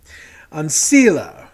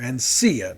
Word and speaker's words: Ancilla: Ancilla, or Ancia, depending on your pronunciation.